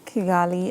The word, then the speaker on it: Kigali: left walk us um walk us through the kigali amendment did i pronounce that correctly yes amendment the kigali amendment